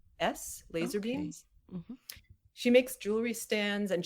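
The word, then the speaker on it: LZR Beams: then for jewelry artists laser beams which is not it's not a full word laser but it's l-z-r beams b-e-a-m-s laser beams she makes jewelry stands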